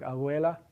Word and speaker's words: abuela: If you have the letter B between vowels in words like abuela, that B has that sound, a voiced bilabial fricative.